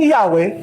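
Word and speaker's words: Yahweh: Kaya kung itutuloy po natin o na while inclining to view the pronunciation Yahwe as the more correct way we have retained the form Jehovah yun yung inclining to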